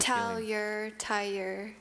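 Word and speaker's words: tailleur: Have a tur. Is that right? T A L L U R E Tur is spelled T A I L L E U R.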